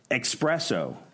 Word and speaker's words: espresso: Espresso. I just say espresso. Yeah. Well, it is because there's no X in there. It is. It's espresso. Espresso. Yeah, but they go espresso, but it's espresso.